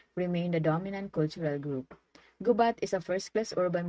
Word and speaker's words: Gubat: south district gubap is pronounced with the accent of the second syllable the people who live